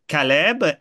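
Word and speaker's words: כלב: lien se fait, que le chien en hébreu, ça se prononce Caleb, et c'est précisément, il y a celui qui est un assistant de Moïse et de Josué.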